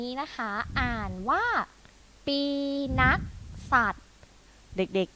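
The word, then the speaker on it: ปีนักษัตร: ได้ ไหม คะ นี้ นะ คะ อ่าน ว่า ปี นักษัตร เด็ก ๆ อ่าน พร้อม คุณ ครู กิ๊ก อีก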